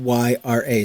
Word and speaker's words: Rhaenyra: No, it's Rhaenyra.